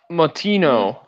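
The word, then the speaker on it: Moutinho: his name is uh chris how do you pronounce his last name it is martino yeah okay so i don't know much about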